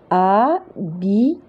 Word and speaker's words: habite: Habite. Donc, H, il ne se prononce pas.